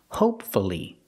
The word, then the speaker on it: hopefully: practice with hopefully again hopefully three syllables pronounce to you hopefully